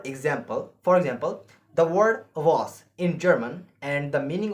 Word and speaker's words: was: German was due to a pronounce as are so the word is was and the meaning of